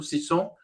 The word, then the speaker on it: Sisson: E só concluindo a apresentação da Bárbara, ela descobriu seu interesse por genealogia ao pesquisar a história da família Sisson no Brasil. Pronunciei correto? Sisson?